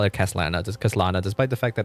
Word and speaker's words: Kaslana: they still call it Kaslana. So it's still pronounced the same way in English at least.